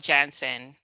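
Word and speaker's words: Janssen: is johnson and johnson it's called jansen you know bye johnson and johnson get it right or don't say it at all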